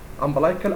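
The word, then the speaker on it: umbilical: رقم واحد امبلايكال او امبليكال ارتري، النطق الصحيح يعني، بس احنا متعودين على كلمه امبلايكال.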